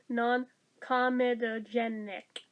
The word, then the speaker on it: non-comedogenic: for everyday use non-comedogenic why do i always want to put an extra syllable in there that's not there non-comedogenic there if i say it slowly i can do it non-irritating dermatologists recommended massage